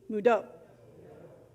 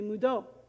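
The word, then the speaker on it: Mvto: it's spelled with english letters m-v-k-o but you pronounce it say with me mudo so impress somebody at your thanksgiving dinner this week when they pass the potatoes say mudo let's talk about thanksgiving friends if you're not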